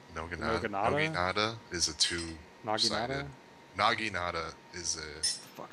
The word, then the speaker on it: naginata: The Noginata? Noginata is a two-sided. Naginata?